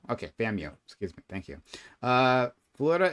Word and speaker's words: FAMU: Is they pronounce it FAMU or just FAMU. FAMU. Okay, FAMU. Excuse me. Thank you. Florida A&M University, or FAMU, is an HBCU.